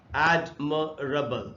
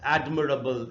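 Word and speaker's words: admirable: अब ये वर्ड है जैसे एडमरबल, एडमरबल इसका प्रोनाउंसिएशन है, इसको एडमिरेबल नहीं पढ़ना चाहिए।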